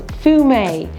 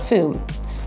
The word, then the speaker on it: Fumé: For Fumé, which is a Sauvignon Blanc, the E has an extra accent at the end. So it's Fumé, not Fume.